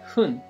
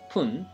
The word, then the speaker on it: 分: And minutes are expressed by adding hun or pun after the number.The pronunciation of fun changes depending on the number it follows, as I said.